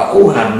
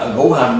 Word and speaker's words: ngũ hành: Bà chú sư bà ủ hành á, ngũ hành mà nó đọc là ủ hành, mấy thằng mà nó